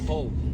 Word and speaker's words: Hull: Hull. Hull. Oh, No, it was silent H in Hull, But I Rich.